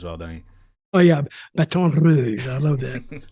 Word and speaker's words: Baton Rouge: Oh yeah, Baton Rouge. I love that. The roll the R, Rouge.